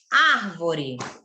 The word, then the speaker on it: árvore: Por exemplo, árvore. Quantas sílabas tem árvore?